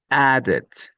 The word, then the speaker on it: added: So the main rule here is that a word that finishes d we have to pronounce added granted added.